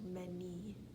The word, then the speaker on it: many: many and this one's irregular because the y makes this e sound so many this one is irregular